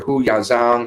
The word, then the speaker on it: Hu Yaozong: Yao Zhang or Hu Yaozong, I believe is how it's said.